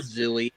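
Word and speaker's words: Zwey: Poor Zooey, or however you pronounce that guy's Zwei. name. Way. Zwei.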